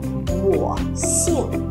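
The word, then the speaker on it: 我姓: Wǒ xìng. Các bạn lưu ý chúng mình sẽ không đọc là xinh nhé. Không phải là xinh nhưng xinh đẹp.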